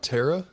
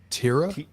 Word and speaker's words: Tira: It's an E, not an A. It's like saying terror with a Boston accent.